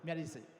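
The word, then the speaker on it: Miary Zo: In Japanese, they say Miyarizu, but in English, it's like Miyarizu. Yeah. Okay. It's again, Miyarizu. 覚えて帰ってくださいね。 Miyarizu.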